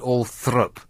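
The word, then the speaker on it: Althorp: like bey um oh there's all sorts of uh uh posh words that uh Orthrop spell or thorp pronounced all thrup Ralph pronounced rafe you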